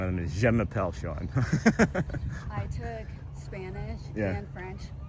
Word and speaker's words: Sean: I'm Sean, but it's spelled S-E-A-N, so I'm seen to many people.